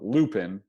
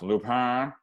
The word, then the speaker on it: Lupin: There's a show on Netflix called, well, it's spelled Lupin, but that's not how it's pronounced because it's a French show. It's subtitles, which I usually think I'll hate, but then I end up really not caring about. It's actually pronounced Lupin, something like that.